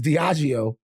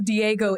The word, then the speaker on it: Diageo: So look, it's Diageo, okay? And their revenue is $22.4 I know what you did. I know how you got there. You just saw letters that could look like, if you move them around, there is a Diego in there. Look at it real quick. quick. It looks like Diego.